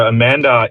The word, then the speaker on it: Emanda: Uh so Amanda is actually M&A spelled phonetically.